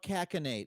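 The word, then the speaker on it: cachinnate: it's pronounced with it with a hard c too it's totally new yeah i i mean i had more no i did not know i'm a comedian and i've never seen a crowd calcinate in my life have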